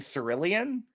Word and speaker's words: cerulean: a shade of blue oh you mean cerulean yeah that's how you say it was like sarah lean